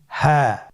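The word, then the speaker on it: هاء: হ্যাঁ। হ্যাঁ হা হরফটি উচ্চারণ ক্ষেত্রে অবশ্যই বারিক হবে এবং 1 আলিফ টেনে পড়তে হবে।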